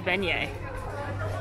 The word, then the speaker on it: beignet: know what it is it rhymes with chmenyes alexa what rhymes with